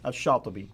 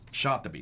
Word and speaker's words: Shatibi: Now, how would you pronounce his name? Shatibi. Shatibi.